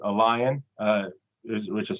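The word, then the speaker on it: LAION: without their permission currently there's a database called Allon uh which is spelled l a i o n and this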